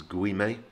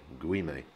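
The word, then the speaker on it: Güime: straight straight forward it's guime remember you say all of the syllables that you see so in english typically that would become green but in spanish it is guime guime this is the one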